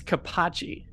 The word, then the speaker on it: Capocci: It's Capocci. Think of cappuccino.